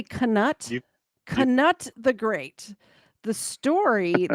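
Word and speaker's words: Canute: if I know that somebody named Kut tried to hold back waves it's Cano I'm saying Kut okay well canut you were saying it wrong can king of Denmark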